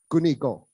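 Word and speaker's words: 国語: And so the Japanese use those same two characters for guoyu or national language, but they pronounced it gunigo.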